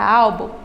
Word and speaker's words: álbum: No caso da palavra álbum, a penúltima sílaba está sendo a mais forte.